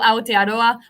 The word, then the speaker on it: Aotearoa: like an english speaker so like for example aotearoa like the r's are like between an l and a french r so and then i